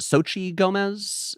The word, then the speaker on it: Xochitl Gomez: Is it Xochitl Gomez?